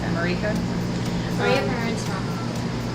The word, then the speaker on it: America: It's just sort of an accent on the wrong syllable for the word America. So it's instead of America, it's America.